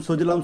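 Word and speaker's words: सुजलाम्: वंदे मातरम सुजलम सुफलम मलयज शीतलम सस्य श्यामलाम मातरम शुभ्र ज्योत्सना पुलकित यामिनी। सुजलम सुफलम नहीं है, सुजलाम सुफलम है।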